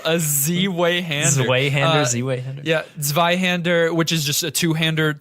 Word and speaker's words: Zweihander: Oh, I called it a Which is- Z-Way-hander in Dark Souls. You shouldn't. Did you really? Yeah, I didn't know how to pronounce Wow, a Z-way-hander. it. Z-Way-hander. Yeah, Zweihander, which is just a two-handed sword, like a two-handed sword.